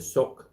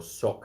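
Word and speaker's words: Şok: have said to me the shock shock supermarket or sock as it's spelt as we would pronounce it but the shock supermarkets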